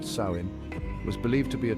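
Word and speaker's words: Samhain: and reverence this night known as sammen pronounced saim was believed to be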